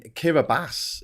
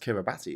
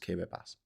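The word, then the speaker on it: Kiribati: Yeah, but in in Kiraabas in the in the Pacific is not pronounced Kiraabati. It's spelled Kiraabati, but it's pronounced Kiraabas because they they um they pronounce Ti as an S, which makes the spelling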